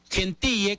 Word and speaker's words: Gentille: porque debía a un jugador Gentille, que se pronuncia Gentil, jugador de Alianza Lima,